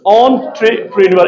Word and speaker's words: entrepreneur: What's it? Entrepreneur. It's not entrepreneur.